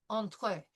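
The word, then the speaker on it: entrée: So, I would like all of us to pronounce entree in French with the French pronunciation. So, entree. It'll be e n through the nose and then the t with the entree.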